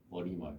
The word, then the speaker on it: 머리말: 인산말이 아니라 인사말, 머리말, 해님이라고.